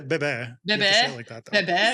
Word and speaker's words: bebe: But you gotta say bebe. Bebe. You have to say it like that, though.